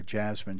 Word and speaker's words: Jasmine: Jasmine.